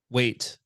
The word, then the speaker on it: WAIT: Weight. So it's spelled just like the English word for weight, not the weight of your body, but the weight of like weight.